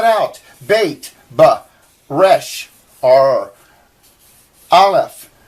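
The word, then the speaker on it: אלף: bait ba resh or alef they actually say it's a silent letter and you don't uh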